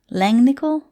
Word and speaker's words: Langnickel: this royal and langnickel langnickel like nickel so it looks like